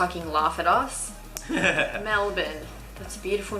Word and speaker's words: Melbourne: like most Australian way you don't pronounce every letter like Melbourne you like yeah like